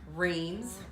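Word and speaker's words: Reims: are e I am s how would you pronounce that yeah rains I did that I did that but we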